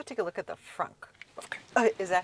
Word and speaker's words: frunk: okay let's go take a look at the frunk okay is that how you say it yes